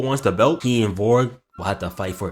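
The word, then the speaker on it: Volg: In an interview for another gym, we see a Russian boxer named Vorg Zang. His name is spelled V O LG, but it's pronounced with the hard R sound.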